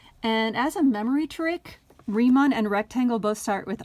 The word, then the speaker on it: Riemann: like it should be ryman or something but it's actually pronounced riemann kind of like you know how einstein is e i but you pronounce the i not the e it's a second vowel